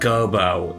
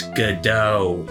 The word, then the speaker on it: Godot: It's not Gobo, it's Godot, Your Honor. Austin, that's how you pronounce it.